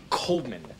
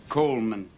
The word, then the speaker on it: Goldman: Coleman or Coldman? Coleman. The D is silent.